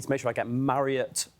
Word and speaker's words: Marriott: I need to make sure I get Marriott right.